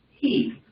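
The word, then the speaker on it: היא: The word for she in Hebrew is pronounced he.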